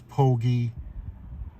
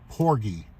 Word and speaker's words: porgy: but the average size pogi it's either some people call it pogi some people call it Porgy but it's it's spelled p-o-r-g-y I believe and you use a